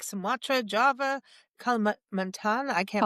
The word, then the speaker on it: Kalimantan: Yeah, just look at like Sumatra, Java, Kalimantan. I can't pronounce that. Kalimantan.